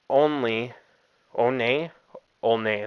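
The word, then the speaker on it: Olney: Network this lines up with reporting from Buster only one that's how you say it and Jesse Rogers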